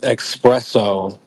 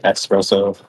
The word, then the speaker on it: espresso: the original word because a lot of people don't even know how to say it properly cuz they call it espresso right but it's it's actually espresso if you didn't know now you know I was just about